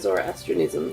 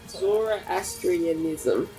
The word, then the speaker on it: Zoroastrianism: That's Zoroastrianism? Yes. How do you know how to say that? Zoroastrianism. Is it Astrianism, isn't it? Astrianism. Astrianism? Zoroastrianism. Yeah. This sect distilled the general abstract duality of Zoroastrianism into a concept of manifest twins born of